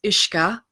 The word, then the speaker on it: uisce: And in Ireland, it's spelled differently. It's UISCE and it's ISHKA. Okay, that's how we say that.